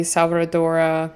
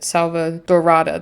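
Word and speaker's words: Selvadorada: So for instance, Mount Kumaravi, Salvadora, I think that's how you say it, Salvadorada, that's it, Salvadorada, Tartosa, and Sixami, which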